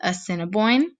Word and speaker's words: Assiniboine: focused on two tribes these tribes are the assiniboine and the sioux we are going to practice how to pronounce their names because you might not think